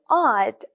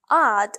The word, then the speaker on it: I'd: just contract ctions and instead of saying I would they say OD odd like I'd like to order a